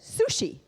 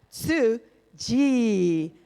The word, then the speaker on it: Tzu Chi: found out about then I said sushi it's not sushi it's soo ji had to learn how to say it so I'm grateful to